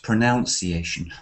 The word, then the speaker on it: pronunciation: are looking at pronunciation not we are looking at pronunciation we are trying to pronounce that's a ver